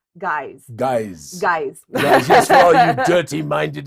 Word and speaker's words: GYZ: So it's pronounced guys.